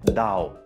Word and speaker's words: Dao: Denn die chinesische Aussprache für Do ist einfach nur Dao.